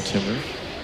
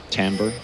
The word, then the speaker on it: timbre: voice goes back to its normal Timber we'll see Timbre Timbre thank you I'm so glad you're